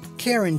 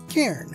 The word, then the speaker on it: Cairn: in the description not karen terrier karen one syllable this is a confident